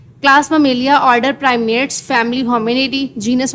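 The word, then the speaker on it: Mammalia: Class उसकी मेलिया मैं इसलिए आपको ये प्रोनाउंस करके बता रही हूं ताकि आपको पता चल जाए वर्ड्स को प्रोनाउंस कैसे करना है। Class ममेलिया order primes family Hominidae genus हमारे पास होमो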